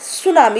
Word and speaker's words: सुनामी: तो वो कौन सा नेचुरल डिजास्टर लेकर आता है बेटा, वो लेकर आता है सुनामी। इसमें टी साइलेंट है, मैं बता चुकी हूँ।